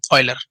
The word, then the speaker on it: Euler: so we should respect him and we should pronounce his name very properly Euler so graph is Euler if an olive it